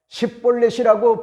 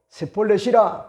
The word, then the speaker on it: 십볼렛: 그러면 다른 지파의 사람들은요 얼마든지 십볼렛이라고 하는과 같은 발음을 하지만은 에브라 지파의 사람들은 독특간과 같은 그런 이방의 언어에 영향을 받아 가지고 쉽비라고 하는과 같은 그런 말을 뭐지합니까? 하기가 힘들어 세폴렛이라 그렇게 이야기를 하게 됩니다.